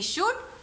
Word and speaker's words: should: SHOULD, शुड, इसमें L silent होगा, ठीक है।